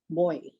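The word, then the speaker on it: Boie: And it is the right pronunciation is Botica Boy.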